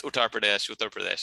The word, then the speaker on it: Uttar Pradesh: and you know he and he uh he pronounces it differently every time it's uttar pradesh anyway so yeah it's the country of author